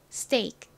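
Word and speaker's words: steak: 해 주시면 됩니다 스이 그리고 가장 끝에 있는 이케는 역시 단어의 끝부분에 오면 약하게 소리가납니다 그래서 스테이크가 아니라 스테이크 스테이크 스테이크 거의 스테이크처럼 들릴 정도로 약하게 발음해 주시면 됩니다 자 발음 연습해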